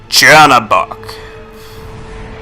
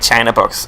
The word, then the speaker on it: Chernabog: Number 17, CHERNABOG. Sounds like China box, actually, when you say it wrong.